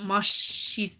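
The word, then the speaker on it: ます: it's generally pronounced that Mas is pronounced very quickly and concisely so m m yes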